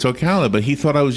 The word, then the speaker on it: Ocala: of things that are Ocala is often mispronounced ah I'll never forget we had a new guy in radio who work at the radio station and he kept saying okolloh instead of Ocala which is almost closed